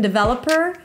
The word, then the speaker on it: developer: Primary stress on the second syllable, devel. There is no O. Developer. No E either.